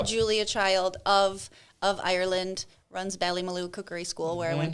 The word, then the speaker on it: Ballymaloe: Ballymaloe. Yeah, the Ballymaloe, and you said it right.